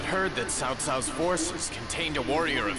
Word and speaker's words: Cao Cao: Because in the back in the day, instead of saying Tao Tao, you say Cao Cao, and you say Cao